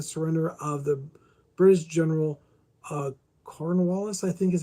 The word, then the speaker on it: Cornwallis: Historical connection represents the final major military campaign, the siege of Yorktown in 1781, forcing the surrender of the British general Cornwallis, I think is how you say it.